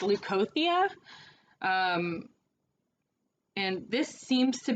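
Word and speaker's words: Leucothea: to pronounce this i want to say it's leukothia um and this seems to be spot on leukothia yes so lukothia is your deity energy and she is part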